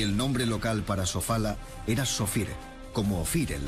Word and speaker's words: Sofala: Creo que Ofir es Sofala o Sofara, cuyo nombre conocen y pronuncian así en el interior.